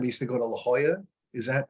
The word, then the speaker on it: La Jolla: to visit them I used to go to La Jolla is that how you say it yeah yeah